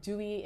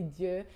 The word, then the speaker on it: Dieux: I know they call it dewy with the American accent, but if you pronounce it correctly, it's really dieux.